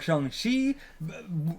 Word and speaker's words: Shang-Chi: What you're saying, when we pronounce it Chi, Shang-Chi, I don't know how to say it now, but he pronounces it Ji. Yeah. But either one would be fine then for that one, but Shang is how, close to Sean.